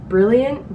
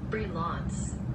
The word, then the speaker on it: Brilliance: No, Brilliant? Brilliant? Brilliant? No. Well, how do you say that? There's no I in that. Well, it's this. The Glitter Brilliance. This is actually bothering me. Let me Google it. Brilliance. Oh, Brilliance. Okay, I never heard of